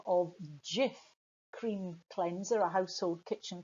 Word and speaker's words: Jif: The letter J was problematic because it's not pronounced J everywhere. Sometimes it's a H, sometimes it's a Y sound.